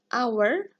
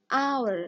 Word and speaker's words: hour: an yang nomor ada our Nah di sini tulisannya How tapi cara membacanya itu adalah our hour nah huruf yang keluar di awal kata itu adalah Aa hour jadi kita menggunakan huruf